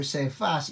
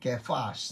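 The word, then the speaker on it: Cephas: Nakikinig sa akin si Simon Peter Kefas. Well the pronunciation for Sefas is actually Kefas no.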